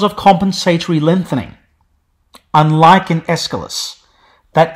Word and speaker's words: Aeschylus: The AE was treated just like an E was in Anglo-Latin, which is why Aeschylus has an initial short E, even if it's spelt with an AE. Aeschylus.